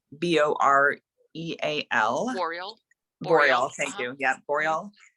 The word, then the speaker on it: Boreal: I have heard uh I think it's pronounced the Boreal owl uh that b-o-r-e-a-l Memorial thank you yeah